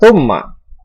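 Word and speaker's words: ثم: Yang ke-13 ada kata thumma. Di sini hukum bacanya adalah gunnah musyaddadah karena ada huruf mim yang bertasydid. Cara membacanya berdengung dengan yang lama.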